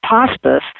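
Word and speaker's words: Pawspice: of P spice but we do pronounce it to rhyme with hospice so family members know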